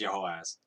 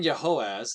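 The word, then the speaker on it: Jehoahaz: In the 23rd year of Joash, the son of Ahaziah, the king of Judah, Jehoaz, I'm going to pronounce it as Jehoaz.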